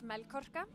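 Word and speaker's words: Melkorka: okay my name it's mel Kafka and I always explain it it's like milk like milk and an orca the whale so that's like milky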